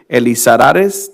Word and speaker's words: Elizarares: So this is Captain David Elizarares. Did I say it correctly, or did I? That is correct, yes.